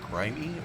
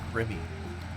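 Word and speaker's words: Grimme: that's probably how we would say it g r i m m e but I've since looked at a couple uh YouTube videos and I think this other gentleman was right that I've been mispronouncing it so sorry about that I think it's supposed to be grimy or or uh I think I've heard one of them call a Grimmy even you know maybe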